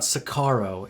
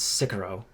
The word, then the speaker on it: Sicario: First of all, it's not Sicario, it's Sicario. I hate when people mispronounce it.